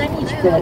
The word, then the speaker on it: Аничков: полк под руководством инженера-подполковника Аничкова, имел сохраниться за этими местами. Хотя до сих пор точно неизвестно, как правильно произносить его фамилию, современный момент именно Аничков.